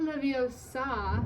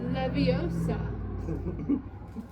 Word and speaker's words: Leviosa: It's not Leviosa, it's Leviosa."